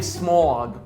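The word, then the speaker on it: Smaug: There's a fog/smog, and no, I don't mean the dragon Smog. That's how you pronounce his name, Smog.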